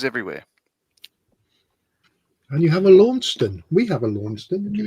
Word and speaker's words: Launceston: He said, I know, Australians are all pronouncing it wrong because I know about Launceston because I was born there. So, it's actually Launceston, not Launceston, but, we just changed the dialect because, we could, and we just didn't know better.